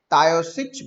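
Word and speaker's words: Taoiseach: Irish भाषा चलती है, आयरिश भाषा में उसको तायोसिच बोलते हैं। हो सकता है कि मेरा प्रोनाउंसिएशन जरा सा गलत हो रहा हो, लेकिन इसे तायोसिच ऐसा कहा जाता है।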